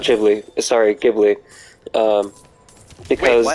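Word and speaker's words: Ghibli: and yeah I guess in America you would say jii like the dude just said so so you're saying there is you're saying there is no jibli or you saying there is no technically gibli no like so it's jibli in America like the dude said but there's no gibli in G yeah but like you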